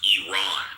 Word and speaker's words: Iran: Everybody in the Middle East knows that Iran is pronounced Iran, but go ahead.